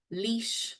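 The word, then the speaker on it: Laois: Republic's Capital we've got Carlo Dublin kir Kilkenny leash that's a hard one to say Longford loud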